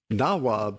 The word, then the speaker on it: nawab: puppets of a Simla nawab? Nawab is the correct pronunciation in Hindi and in Sanskrit.